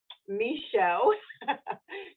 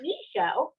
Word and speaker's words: Michaud: Well, today I'm really excited to bring part 2 with Michaud. She taught me how to say her last name because it's not spelled that way. Michaud from Capital One.